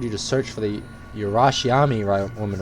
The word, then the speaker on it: Urashima: URASHIMA. I was pronouncing it right.